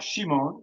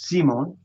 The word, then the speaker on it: Simon: But this is not Shimon, right? Because that's spelled with a shin. This is Simon.